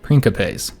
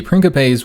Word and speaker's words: principes: line which were the principes and i hope i'm pronouncing that one right because again i think the c is is supposed to be that k sound so the princopez were the the main